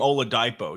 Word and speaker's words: Oladipo: I don't know what's what's the correct pronunciation it's Oladipo did you what do you mean you didn't know the correct pronunciation I don't know that something different yeah I hear it different every announcer I've ever heard say his name is I've never heard anybody say Ola dipo well I like to